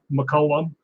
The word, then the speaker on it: McCallum: to find me and it's spelled uh not like it's sound my name is mccollum because it's named after saint columba so it's pronounced mccullum but it's actually like m-c-c-a-l-u-m matter of fact if